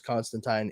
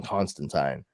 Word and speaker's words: Constantine: well let me rephrase John Constantine hellblazer because Constantine is actually how the name is supposed to be pronounced I did not learn that until recently